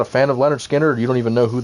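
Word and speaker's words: Lynyrd Skynyrd: some of them out just search Leonard Skinner it's spelled wacky with a bunch of wi's but one of the best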